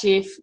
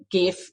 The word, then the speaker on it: GIF: off which is pronounced GIF but I still say GIF with a hard G and it drives my